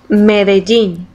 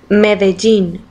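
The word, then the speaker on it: Medellín: Medellin. Yeah, I'll throw this in there. Medellin. Medellin. Medellin. For those of you that don't know how to say it, that's the proper way of saying it.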